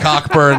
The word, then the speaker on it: Cockburn: and Cockburn, no silent CKs out here, will take down the national championship.